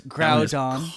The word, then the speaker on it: Groudon: It's Groudon. Constantly butchered.